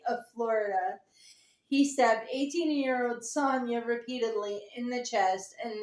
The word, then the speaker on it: Sonja: Sonia. How in the hell did I misread that? The J is silent.